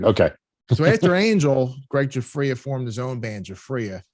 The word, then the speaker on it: Giuffria: Giuffria.